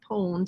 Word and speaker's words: pwned: It's pronounced pwned, sort of like owned with a P.